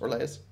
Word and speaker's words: Orlais: journey to Orlais okay or Laius rather it's pronounced relays adalah loitering let's go